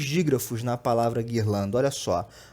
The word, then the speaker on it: guirlanda: Eu tenho 2 dígrafos na palavra guirlanda, olha só. O primeiro é esse U, que não é pronunciado, né?